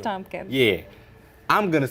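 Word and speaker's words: Thompkins: Jim Gordon and Leslie thumpkins is that you say her name Tompkins I think it's Tompkins yeah I'm gonna say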